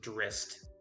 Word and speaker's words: Drizzt: So it's actually supposed to be pronounced Drist.